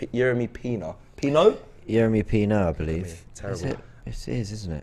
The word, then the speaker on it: Yeremy Pino: Yeremy Pina. Yeremy Pina. Pino? Yeremy Pino, I believe.